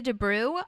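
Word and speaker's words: de Broux: this actor's name is Lee De Bru I think that's how you pronounce his name b r o uux uh and he has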